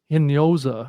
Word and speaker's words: Hinojosa: Yeah, and then the next one over right next to is Maria Hinojosa, I think is the proper pronunciation.